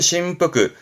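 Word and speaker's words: 振幅: 진 폭자 그 휘두르는 폭을 말하는 부분이잖아요 진폭 발음은 심프 심프 진동이 발음은 신도 신도이 진동이 우리가 많이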